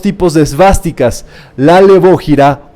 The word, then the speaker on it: svástica: O svástica. La W se pronuncia como V. Svástica.